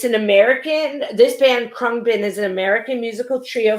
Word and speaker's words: Khruangbin: i may go on it's krung bin which is which literally means flying engine or airplane in thai um it's an american this band krung bin is an american musical